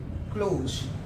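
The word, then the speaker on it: close: क्लोज का बात करेंगे इसे प्रोनाउंस करते है क्लोज क्लोज ज का साउंड आता है किसका साउंड आता है ज का क्लोज क्लोज मतलब बंद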